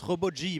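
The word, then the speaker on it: Robo-G: sens que si jamais on le prononce Robot G, parce que c'est Ji-san, parce que c'est un vieil homme, et Ji-san ça veut dire vieux en japonais.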